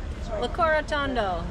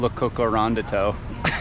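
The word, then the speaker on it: Locorotondo: We're how to say this town's name is Le Corotondo. Le Corotondo. I've been saying Le Cocorondito. Which is definitely not right.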